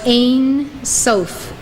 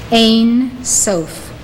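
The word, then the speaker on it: Ein Sof: prior to Creation was Ain sof write it down it is spelled in two words e-i-n then sof Ain sof this means Without End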